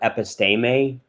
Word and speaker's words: episteme: science is the word episteme episte may y'all remember what the weird little markings over the e is that means that it's a long e uh as opposed to a short e epistemic i'm probably not